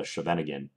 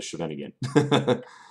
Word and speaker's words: Scheveningen: another line called the Scheveningen. I know I'm pronouncing that incorrectly for you Dutch viewers out there, but I'm going to call it the Scheveningen, e6.